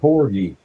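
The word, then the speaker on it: pogie: Uh I call it porgi. It's porgi. It's spelled pogy. P O G I E. Pogy. Yeah, this the wrong one.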